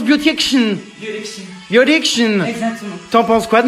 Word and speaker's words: Beautiction: Comment on prononce Beautiction? Beautiction.